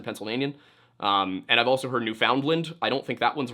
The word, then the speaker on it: Newfoundland: And I've also heard Newfoundland. I don't think that one's right either. I believe that the correct pronunciation would be Newfoundland, right?